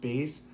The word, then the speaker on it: bis: I wasn't sure what it meant but it is pronounced bees and um spelled bis and it means um do it twice.